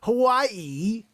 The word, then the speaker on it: Hawaii: Hawaii, Joanne, that's how you say it.